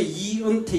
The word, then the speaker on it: 이은태: 내가 왜냐면 평생을 살면서 내 이름을 발음을 못해요. 내가 이제 이은태 이러면 언어로 쓰는 사람 한 명도 없어.